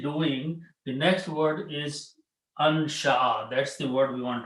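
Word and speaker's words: أنشأ: Do not say in because that meaning changes. Insha is totally different thing.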